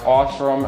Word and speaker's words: Osram: They're the, I hate the brand, it's pronounced Osram, O-S-R-A-M, the hell were they?